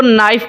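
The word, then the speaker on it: knife: से पूछता हूं तो टीचर कहती है जी के साइलेंट है आपने लिखना स्पेलिंग के अंदर के लिखना तो लाजमी है लेकिन आपने इसको नाइफ पादना है के साइलेंट हो जाएगा केक की आवाज नहीं आएगी मैं अगर टीचर से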